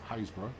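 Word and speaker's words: Happisburgh: Hapsburgh is that's Haysborough.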